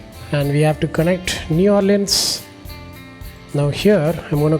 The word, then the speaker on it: New Orleans: The Texas and New Orleans is a shadow of what it once was.